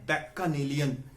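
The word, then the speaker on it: Bacchanalian: उच्चारण इसका है बैक्कानेलियन, लेकिन याद करने के लिए आप बच्चानेलियन पढ़ लीजिए।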